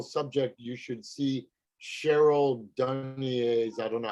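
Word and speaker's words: Dunye: If you're interested in that whole subject, you should see Cheryl Dunier's, I don't know how she pronounced her name.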